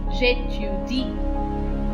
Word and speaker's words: j'étudie: Now, so you will treat J and E as if they were together, as if they were one sound. So the E with an accent aigu is pronounced as J, or the E that is used in cafe is pronounced as A. Je plus A is J.